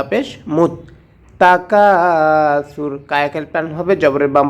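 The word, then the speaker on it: تكاثر: মিম তা পেশ মুত তাকাসুর কাকে প্যান হবে জবরের বাম পাশে খালি আলিফ ভাষার কারণে সাটা জিহ্বার আগা থেকে নরম করে উচ্চারণ করতে হবে তাকাসুর আলহাকুমত্তাকাসুর আয়াতের শেষে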